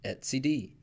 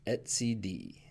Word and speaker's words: etcd: key value data store for kubernetes and it's pronounced at CD so etcd is pronounced at CD pretty easy now this is an interesting one